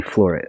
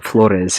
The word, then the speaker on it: Flores: uh i'm flore uh well i was about to pronounce it the white way excuse me flores i'm just i'm used